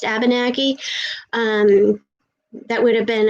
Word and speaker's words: Abenaki: fifth generation ab abinaki it's pronounced abenaki um that would have